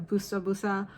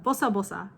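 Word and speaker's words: ボサボサ: said i don't exactly know the meaning of busta busa or if it's even a real word but i remember my mom and grandparents saying that in reference to hair being messy so it's uh bosa bosa is actually how you pronounce it b o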